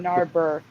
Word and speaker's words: Narberth: Am I pronouncing that Narbeth or correctly? Narber.